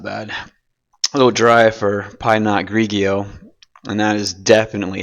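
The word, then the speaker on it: pinot grigio: A little dry for pine not grigio. And that is definitely how you pronounce it if you think otherwise.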